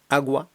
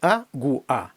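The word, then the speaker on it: agua: або о Для прикладу агува абело ло дос ресдуо зверніть увагу не агуа а агу у агу абело фло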